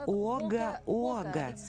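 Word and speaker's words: Wagga Wagga: Крис, в какой стране находится город Уага-Уага? Читается У-О-Га.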